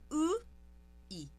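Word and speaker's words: 의: Então você dá um sorriso falso e nesse sorriso falso você deixa a língua paradinha e pronuncia a vogal u com esse sorriso falso.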